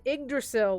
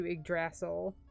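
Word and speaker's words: Yggdrasil: the chosen foreign i wonder why they pronounced it like that because it's iggdrasil like everywhere else as opposed to igrassl nobody's checking how to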